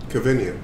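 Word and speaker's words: Kevinion: You spell it for me. Kevinian. K-E-V-I-N. Kevin. I-O-N. Kevinian.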